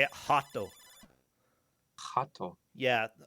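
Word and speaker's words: rato: Portuguese you say it hot Oh hot oh yeah an R at the beginning of the word is pronounced as an H you can attack the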